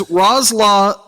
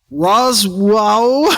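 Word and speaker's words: Rosław: Oh, that's like a Polish letter. Yeah, it's Rozla Szaybo. I think it's a W sound. Roswell Szaybo's cover artwork introduced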